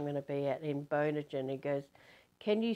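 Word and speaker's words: Bonogin: I said, you know, Bono, as in you too, B-O-N-O, gin as in the drink that you drink. And he said, oh, you mean Bonogan.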